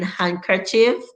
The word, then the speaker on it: handkerchief: you're gonna like this d is shirking its auditory duties in handkerchief and mostly doing the